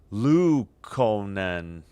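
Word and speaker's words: Luukkonen: Lu Konen.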